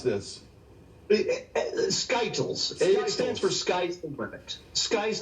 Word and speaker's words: SKTLs: to be cute you know how do i pronounce this skytyles stands for sky perfect sky's the limit skt